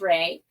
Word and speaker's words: Rée: we will go ahead is that how you pronounce her name sorry okay my name is Ray and I am a visual Storyteller like shashir